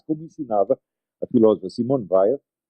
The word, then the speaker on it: Weil: Mas, como ensinava a filósofa Simone Weil, os franceses pronunciam Weil, mas eu me recuso a fazer isso, no livro L'Enracinement, o